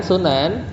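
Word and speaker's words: سُنَن: Wa bidhammi, kalau dibacanya sunan hiya thariqah itu metode ya.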